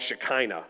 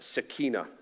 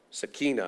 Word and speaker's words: Shekinah: of us call it Shekinah. That's an Americanized way of saying it. I've been corrected before by people who actually speak Hebrew, and they say it's actually pronounced Sakina. Sakina.